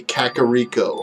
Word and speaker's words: Kakariko: syllables or whatever just I'm aware it's supposed to be kakariko I'm just saying kakiriko because that's how I say and I think it sounds better than kakariko and again technically it's